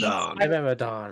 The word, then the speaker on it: Pteranodon: So, Yeah, but the P. Pteranodon.